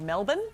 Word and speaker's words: Melbourne: Can I just take a moment to congratulate you on your pronunciation of Melbourne? Yeah, well done. You flattened that right out, bro. You really nailed the vowels there.